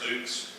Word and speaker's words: Dux: thank you good evening thank you I'm Dukes I'm your current Republican County chair the last name is pronounced Dukes but it's real easy to see on the